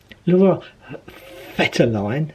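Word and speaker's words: Laura Vetterlein: Laura Fetterline, as she quite rightly told me how to pronounce it, soared above everybody else and headed it in.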